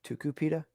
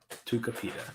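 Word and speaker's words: Tucupita: like two supita or tuku pita tuka pita tukapita that's not how it's spelled that's exactly how it's spelled t-u-t-u-c-u tuka pita p-i-t who's not pronounced ooh u is pronounced ooh tukupita tuka pita i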